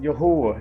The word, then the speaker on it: Yahweh: um this tet Graton is Yahweh it is pronounced Yahweh it is not translated to Lord all right